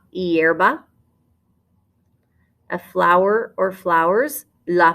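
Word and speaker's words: hierba: the word for grass your h is silent la yerba la yerba a flower or flowers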